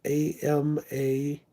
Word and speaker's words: Amaranth: It's Amperthan, I think is how you say it. It's AmaraNth.